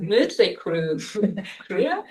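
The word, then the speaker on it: Mötley Crüe: And the same with the Motley Crue. Exactly, it's not Motley Crue.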